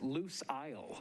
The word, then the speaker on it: Lucile: uh you're recognized uh it is loose isle is actually how it's loose is lucille um you're